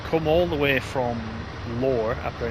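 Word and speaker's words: Lohr: all the way from lower after I believe it's pronounced l-o-h-r and you come all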